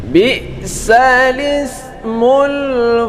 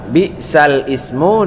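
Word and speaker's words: بِئْسَ الِاسْمُ: Bi'sal ismul fusuq ba'dal iman wa man lam yatub fa ulaika humuz zalimun. Nah, yang perlu kita bahas yaitu bi'sal ismu dibaca dengan bi'salismu. Ya, jangan sampai salah di sini.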